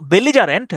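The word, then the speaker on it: belligerent: যে ঝগাটে হয় তো বেলি জারেন্ট বেল্লি বেল্লি জারেন্ট বেল্লি জারেন্ট উচ্চারণ করতে পারেন বিই L bell L আই লি বেল্লি জিই যা আরই এনটি বেলিজারেন্ট ঠিক আছে বেলিজার মানে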